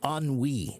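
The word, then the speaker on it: ennui: So you s you feel a sense of unwe, right? But it's pronounc it's it's spelled en n ui. E n ui. But why do we pronounce it that way? Because it's a French word.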